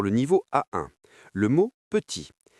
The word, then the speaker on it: petit: Le mot petit. P-E-T-I-T. Si vous prononcez le T final, vous brisez la mélodie.